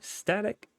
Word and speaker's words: StaTech: gentlemen we're diving into static industry and I've checked that is indeed how you pronounce it so yeah um